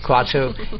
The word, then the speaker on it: Kratzer: I pronounce it Kratzer? Kratzer.